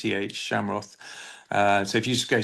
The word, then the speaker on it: Schamroth: So it's just if you just type in my name, Shamroth, which has got a really weird spelling, but you pronounced it very well at the start. It's Oh, thank you. Schamroth, Shamroth.